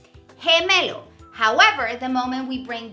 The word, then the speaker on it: gemelo: What happens here is that G, when it's followed by an E, the sound would be he, like gemelo, twin, gemelo.